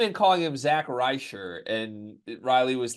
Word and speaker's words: Risacher: Yeah, I think Risacher. I'm gonna see how many times I can do the French pronunciation of his name.